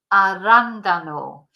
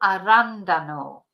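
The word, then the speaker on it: arándano: in Spanish is L arandano because there's an accent on the second a l arandano so the blueberry and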